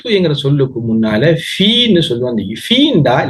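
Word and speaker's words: في: இங்க குர்ஆன்ல ஓதக்கூல பார்க்கலாம் நீங்க ஃபீன்ற சொல்லு, ஃபீன்ற சொல்ல அதிகமான இடத்தில வரும். ஃி சிலர்கள் இத பி சும்மா சொல்லுவாங்க. ஃபீன்னு சொல்லப்படா ஃபீன்னு உச்சரிக்கணும். ஃபீ இப்ப பாருங்க அல்பைத்துங்கிறது ஒரு இஸ்ம்.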